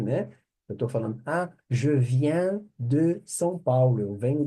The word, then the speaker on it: viens: Je viens de. Je viens. Viens. A pronúncia vem até aqui, ó. Viens. Viens. Não falo o S final.